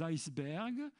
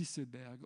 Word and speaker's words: iceberg: Ne prononcez surtout pas les icebergs, parce que là, alors, tout est par terre. Vous savez que la prononciation normale, ce n'est pas iceberg, c'est iceberg. D'ailleurs, pourquoi j'insiste ?